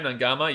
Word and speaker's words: Naiqama: He's up this game, Nangama. Yeah, Nangama has... Well, by the way, guys, Nangama is spelled Naiqama, but Q is pronounced NG in Fijian, so that's why I say that.